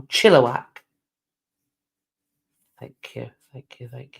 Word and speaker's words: Chilliwack: So Chilliwack, emphasis on the first syllable, Chilliwack.